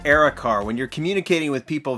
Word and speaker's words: Era Car: is time to showcase Eric our I think it's Eric our er a considering they're not in caps we'll go with Eric are when you're communicating with